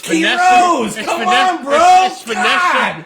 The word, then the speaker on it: Quiroz: Can you pronounce? I love it. I love it because no, give me no. It's Quiroz, Vanessa.